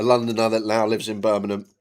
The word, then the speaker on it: Birmingham: Active, a Londoner that now lives in Birmingham. You'll get no G's in my pronunci pronunciation of the city. It's just Birmingham and it always will be too far.